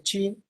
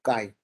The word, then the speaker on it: chi: Esta aquí en México se le dice chi, pero ese está incorrecto porque se está leyendo la transliteración al inglés, pero se pronuncia como kai, como es la K.